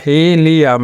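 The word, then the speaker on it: helium: আর হি একটা সিলেবল তাহলে হি এখানে হলো হি টা হলো ওপেন সিলেবল যার কারণে এখানে কিন্তু লং ই সাউন্ড ক্রিয়েট হয়েছে এরপরে লি তারপরে আম তো হি লিয়াম এখানে কিন্তু হির উপরে স্টেজ পড়েছে এরপরে এরপরেরটা দেখুন এরপরেরটা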